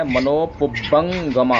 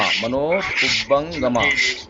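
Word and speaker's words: मनोपुब्बङ्गमा: बहुत सुंदर याद कराया आपने, लेकिन थोड़ा सा उच्चारण जो है मनोपुब्बंगमा का ठीक नहीं है, उसको सही करें, मनोपुब्बंगमा, मनोपुब्बंगमा।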